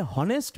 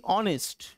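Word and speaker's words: honest: এর উচ্চারণটা অয়ে হচ্ছে আমরা কিন্তু এখানে হনেস্ট বলছি না আমরা কি বলছি অনেস্ট অনেক লাইট সাউন্ড আসছে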